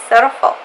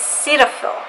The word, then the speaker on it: Cetaphil: So it's Cetaphil. Apparently that's how you say it. I saw a commercial recently, and that's how they said it, Cetaphil.